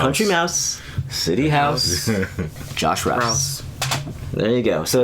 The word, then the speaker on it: Rouse: you know when you when you see his name his name is spelled r o u e and I used to look at and go is that Josh ruse Josh ruse Jos well he he's here to tell you Rous Country House country mouse